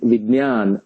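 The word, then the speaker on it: विज्ञान: Do you pronounce it as a Vigyan or Vidnan? There are many ways people pronounce. The correct pronunciation, I would claim, is Pratidnya and Vidyan and Jnana.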